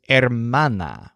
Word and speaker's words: hermana: Joel and his sister Joel's word for sister is hermana with a stress on man and his word for